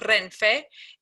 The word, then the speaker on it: Renfe: So I'm going to spell it twice. So the name of the Spain National Train Company is R, E, N, F, E.